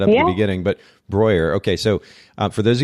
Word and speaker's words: Breuer: And if you want to be correct about it, it's Breuer, which rhymes with lawyer. So that's what I tell people to kind of put it like Breuer rhymes with lawyer.